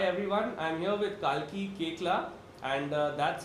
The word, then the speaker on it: Koechlin: And yes, that is how you pronounce her surname. Koechla. Yeah. Koechlin, and not Koechlin.